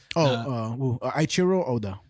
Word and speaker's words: Eiichiro Oda: Eiichiro Oda. Eiichiro Oda. I'm saying it right, but the way it's spelled is EIICHIRO space Oda. ODA.